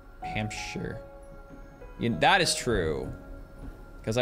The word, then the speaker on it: Hampshire: Hampshire as a state and pronounce it sheer well you don't pronounce it Shear Americans read our shes in the UK it's sh Hampshire that is true because